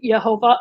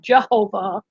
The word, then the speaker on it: Jehovah: english but that was because they added the j later on and so they you know updated the english but the j used to be pronounced like a y yeah right yeah languages